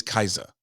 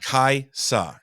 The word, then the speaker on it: Kaisa: pronounce my wife's name it's always kaisa like with a z I'm like there's an S it's not hard it's just really is silent kaisa it's not hard I